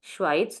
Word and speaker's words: Schweiz: The you can we have to use the article with this also. So the Schweiz, not only Schweiz, the Schweiz, the Schweiz, which means Switzerland.